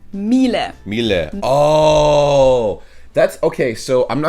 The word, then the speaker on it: Miele: and it's not exactly pronounced wrong in English, but English native Miele. speakers usually say something like Miele. Miele. So it usually sounds more like an A in the end, whereas in German we say Miele.